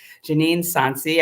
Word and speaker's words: Janeen Sonsie: as I said we've got a wonderful guest Janine sansy I hope I'm pronouncing your name that's absolutely correct and she